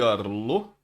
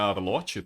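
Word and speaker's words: Arlott: Grande Arlo. Pra quem não sabe, não é Arlote, tá? Na própria animação fala que ele é o Arlo, porque o T dele é mudo quando se fala, então, ok.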